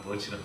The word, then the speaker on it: Birch: 1999년에 개봉된 영화인데 사이먼 버치라고 하는데 코리안 발음으로는 버치라고 그러고 아메리칸 발음은 벌치라고 그래요.